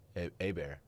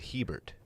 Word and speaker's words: Hebert: it's quite complex uh a bear hey bear a bear which is how that's pronounced sometimes is t-bob hebert still been in